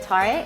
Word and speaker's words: tare: So this is where you're gonna add the tare.